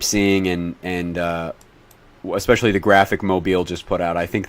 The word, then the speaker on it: Mobile: Yeah, it's pronounced Mobile. It's not Mobile, Alabama.